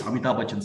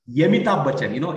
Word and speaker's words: Amitabh Bachchan: for the world, it's Amitabh Bachchan singing. And Yemitabh Bachchan, it is the Yemitabh Bachchan. That's the way they pronounce it.